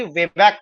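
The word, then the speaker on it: Weisbach: वे बैक triangle बोलते इसका pronounce actually वे बैक होता है एस साइलेंट रहता है ठीक है इसको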